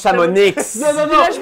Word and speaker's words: Chamonix: Premièrement, ça se prononce Chamonix.